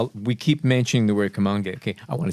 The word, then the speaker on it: Kamoinge: You see the Kamoinge standard. The Kamoinge standard whatever you personified. choose, I'm okay with it. There you go. Sounds good. By the way, we keep mentioning the word Kamoinge.